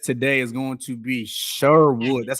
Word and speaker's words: Sherwood: So, without further ado, our guest today is going to be Sherwood. That's how you pronounce it, right?